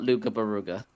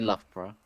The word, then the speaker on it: Loughborough: Yeah, it's not Luga Baruga. Lao Bao How. All right, I'm already in hell. Yeah, the locals say Loughborough.